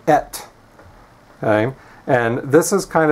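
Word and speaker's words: את: So we've got aleph, which makes no consonant sound, and then segol, which is the sound eh, and then the tav, which goes t like a T, so et.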